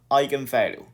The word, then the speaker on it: eigenvalue: here is called an eigenvalue of a okay eigenvalue so look that this is a german term okay this is a german word and it's pronounced as eigen eigenvalue and hopefully fee is